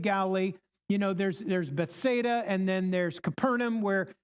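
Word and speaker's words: Bethsaida: Okay, we learn in chapter 1 that Philillip was I think I'm pronouncing this right from Beth Beth Bethada, not Bethesda. Bethada.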